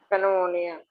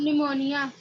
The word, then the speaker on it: pneumonia: फिर PNEUMONIA, क्या कहते हैं इसको बताइए? पेनोमोनिया। Ma'am निमोनिया। निमोनिया। P silent है, ठीक है।